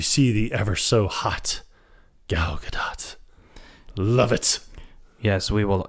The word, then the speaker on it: Gal Gadot: But she follows him, and then you see the ever so hot Gal Gadot. Love it. Yes, we will never agree on how to pronounce her name.